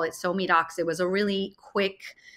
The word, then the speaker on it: SoMeDocs: It's because it's pronounced SoMeDocs.